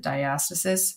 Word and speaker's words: diastasis: ever seen that before that's diastasis some people pronounce it diastasis so you know there's a couple different ways you may have heard it but that can be